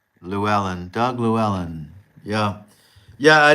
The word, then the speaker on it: Llewellyn: Llewellyn.